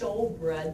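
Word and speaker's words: shewbread: I think it's showbread, but it's spelled S-H-E-W.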